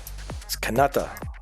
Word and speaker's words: Kanata: if you're a native you don't call the area Canada Kanata and I am a